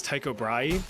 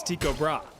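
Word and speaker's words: Tycho Brahe: Now, trust me, for the life of me, I really want to pronounce this guy's name is Taiko Braay, but apparently the proper Danish pronunciation is Tiko Bra.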